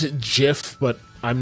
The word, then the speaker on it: GIF: pronounce I pronounce it GIF, but I'm not going to get into a fight about it. Hopefully that answers the question. Yeah, I know. I know. I know. The G is for graphics.